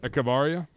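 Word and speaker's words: Echavarría: I don't even know how to pronounce his name. I'm not going to try. Echevarria? Yep. Echevarria.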